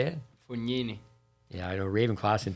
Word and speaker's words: Fognini: Fognini.